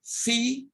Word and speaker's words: Phi: Phi, pronounced F, and written with a PH, not with an F.